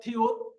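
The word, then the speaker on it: 티읕: এটা হলো থিউত। থিউতের উচ্চারণ থ, নিচে বসলে হবে ত। আর এটা হলো ফিউক।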